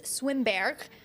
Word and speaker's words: Swimberghe: Swimberghe. Good afternoon. That's Right? indeed pronounced properly.